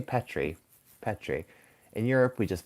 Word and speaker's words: Petri: Um, in USA we pronounce it pet tree. I would say Petri.